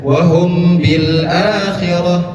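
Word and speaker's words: وَهُمْ بِالْآخِرَةِ: Cara membacanya dengan ditahan kurang lebih dua ketukan. Wahum bil akhirah. Tidak lanjut saja. Wahum bil akhirah. Tidak. Tetapi ditahan terlebih dahulu. Wahum bil akhirah. Ditahan.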